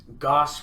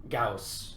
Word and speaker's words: Gauss: like oh man you got this goss rifle now that's a mispronunciation of you know gauss who actually did a